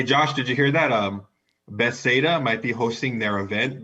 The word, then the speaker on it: Bethesda: See, Can't wait for more So- Say Skyrim. Bethesda? more- Bethesda. Bethesda. My bad. Foo has problem pronouncing. normal words.